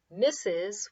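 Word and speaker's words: Mrs.: a shortened version of the word misses which doesn't have the sound R in it anywhere however this is how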